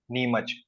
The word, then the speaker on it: Neemuch: या सो इफ वी गो इन the state wise जो official ऐसा नाम लिखाता है वो NEEMUCH है, नीमच. बट जो रेलवे स्टेशन की एक्चुअल स्पेलिंग है वो NIMACH है.